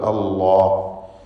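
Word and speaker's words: الله: ആ ലാമിന് തഫ്ഖീം കൊടുക്കുക. അല്ലാഹ്, ഇല്ലല്ലാഹ്, 2 ലാമുകളാണ് അവിടെ. ഇല്ല എന്ന ലാമും അള്ളാഹ് എന്നതിലെ ലാമും രണ്ടും ശബ്ദമുണ്ട്. ആദ്യത്തെ ഇല്ല എന്ന ലാമിൽ തർക്കീഖാണ്, രണ്ടാമത്തെ അള്ളാഹ് എന്ന ലാമിൽ തഫ്ഖീമാണ്.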